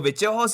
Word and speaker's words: Vallejos: I know कि spelling different है बट जिस वजह से प्रोनंसिएशन है तो विचेहोस ही बोल रहे हैं तो यहां पर केविन विचेहोस बहुत ज्यादा अमेजिंग दिखा है।